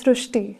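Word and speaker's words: Srushti: So in Marathi, the word Ri is pronounced as Ru. So that is why the pronunciation goes Srishti.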